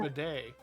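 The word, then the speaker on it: Bede: yeah whose name is midday yeah we we we decided that b-e-d-e is pronounced for the day and uh and that's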